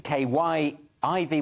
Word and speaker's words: Kyiv: So it was obviously K-I-E-V, which is how it's spelled in Russian, to K-Y-I-V, which I think we're meant to say Kyiv now.